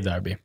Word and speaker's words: Derby: England we're going with Derby by the way I mean that's the Scottish accent I say Darby alright well I'm gonna say Derby then just to annoy the fans because now there's two pronunciations but you know for